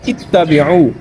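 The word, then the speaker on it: اتَّبِعُوا: تو اس وجہ سے نہ ہی یہ اتبعوا ہے نہ ہی یہ اتبعوا ہے، بلکہ یہ صحیح اس کا جو تلفظ ہے، اس کا اعراب ہے وہ ہے اتبعوا.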